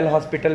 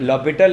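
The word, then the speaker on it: L'Hôpital: कुछ लोग इसे ल'हॉस्पिटल भी उच्चारित करते हैं। इसका उच्चारण गलत है। सही? दरअसल, यह ल'हॉपिटल एक गणितज्ञ हैं। यह उनके नाम पर आधारित है। सही? इसका अस्पताल से कोई लेना-देना नहीं है।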